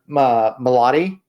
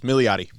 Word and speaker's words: Milioti: last but not least, Kristen Milotti. Brian, am I saying it right? Milotti? Who? Damn it. Close. Milioti. Milioti, thank you, for the Penguin.